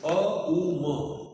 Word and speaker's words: Om: In Om there are 3 syllables. A, U, Ma. A-U-M.